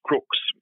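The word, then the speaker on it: Crux: the constellation is not southern cross it is crooks c-r-u-x crooks is the is the proper pronunciation of it and that means like a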